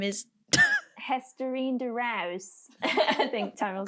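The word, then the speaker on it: Esterine de Reus: The Ajax coach, her name is Hesterine de Rouse. I think Tammy will say it better. Beautiful The pronunciation. Dutchie will say it better. Estherine de Reus.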